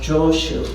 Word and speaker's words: Joshu: So chao jo um in Japanese is pronounced joshu.